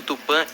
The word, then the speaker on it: tupã: Em tupi antigo, a frase ficaria: Jesus Cristo tupan de pronúncia aproximada, Jesus Cristo tupã nde, acento circunflexo I.